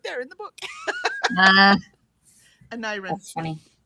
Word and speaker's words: Aneurin: It's spelled Aneurin. And I would have said like Anurin or something, right? But no, it's Aneurin. Aneurin.